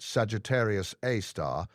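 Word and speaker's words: Sagittarius A*: The Milky Way's black hole, Sagittarius A, pronounced Sagittarius A star, weighs about 4 million times what the Sun weighs.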